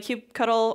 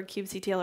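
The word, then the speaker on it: kubectl: the things that uh Cube cuddle or cube CTL or however you want to pronounce it there's you can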